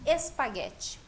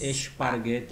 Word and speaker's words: espaguete: Se eu pensar em espaguete, espaguete, Espaguete. ó, Oh, não se diz esparguete. espaguete. Quatro sílabas também.